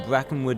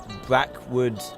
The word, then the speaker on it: Brackenwood: In Brackenwood Meadow Park. Brackwood.